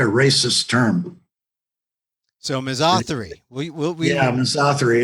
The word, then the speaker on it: misothery: It comes from two Greek words. The first syllable, miso, as in misogyny, which is contempt for women. And therio is the Greek root word for animal, Therio. So misothery.